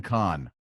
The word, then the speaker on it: Cahn: The Mystery of the Shemitah by Jonathan CAHN.